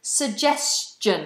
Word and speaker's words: suggestion: And suggestion. It's got this j sound in the middle.